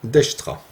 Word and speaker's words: Dijkstra: l'écrire sans fautes d'orthographe ça s'écrit comme ceci est à se prononcent d'extra et cet algorithme à